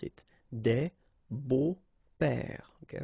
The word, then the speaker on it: beaux-pères: Des beaux-pères, okay? Remember the S, but then it's silent. Des beaux-pères.